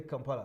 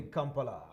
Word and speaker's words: Kampala: And all of them don't say Kampala, they say Kampala.